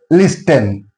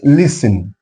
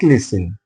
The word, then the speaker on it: listen: For example, listen 10 at the end 10 is there. So t is silent there. Not listen. It is listen. It's it will be pronounced like listen.